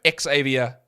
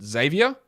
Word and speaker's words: Xavier: announcers yeah xavia tman do you know he pronounces his name correctly he pronounces it zavier so all of this me teing him was not him it was announcers getting it wrong so Xavier congratulations you're